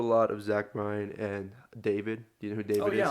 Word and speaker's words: D4VD: So I listen to a lot of Zach Bryan and David. Do you know who David is? Oh yeah, like D4. D4VD. Yeah. It's pronounced David.